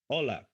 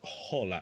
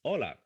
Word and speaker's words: hola: So remember, the H is silent. The H is mute. In Spanish, we don't pronounce it. So, hola, hola. It's not hola. It's hola.